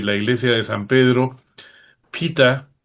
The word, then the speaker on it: PETA: Hemos visto ayer como sobre los aposentos papales encima de la iglesia de San Pedro, pita, eh, ¿no?, que se escribe Peta, ha proyectado imágenes antitaurinas en el Vaticano.